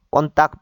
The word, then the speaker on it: kontak: 꼰딱 이제 비사이러는 꼰딱 K가 쌍기역 발음 꼰딱이죠. 나 붙으면 이제 또 이것도 이제 많이 익혀졌습니다.